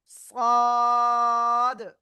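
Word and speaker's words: ص: জিহ্বার agar সামনে নিচে 2 দাঁতের পেটও আগার সাথে লাগাবেন, লাগিয়ে একটু মোটা আওয়াজে আপনার উচ্চারণ করতে হবে 4 আলিফটা নিয়ে। সাদ, সাদ।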